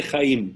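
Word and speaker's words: חיים: La palabra vida en hebreo se dice Jaim, lo acabamos de ver.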